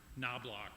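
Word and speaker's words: Knoblock: the last name pronounced knob loock knob loock that's knob block like door knob door lock okay my name is noblock I'm here today from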